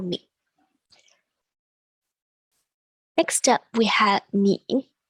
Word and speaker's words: 你: Next up, we have 你. Again, this is in the third tone, so your voice dips down and then comes back up again. 你. 你.